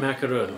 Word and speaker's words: macaron: son was ready for macaroon real French Parisian macaron that's what's on his bucket list it's very different than macron well yeah I guess in how you say it but no they're